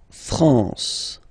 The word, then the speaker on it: France: La France. La France, okay? A-N here, nasal en.